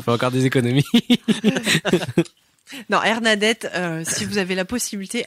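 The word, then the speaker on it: Airnadette: C'est comme Bernadette. Hernadette, voilà, Hernadette.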